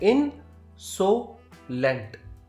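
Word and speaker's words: insolent: इसका प्रोनाउंसिएशन है इनसोलेंट.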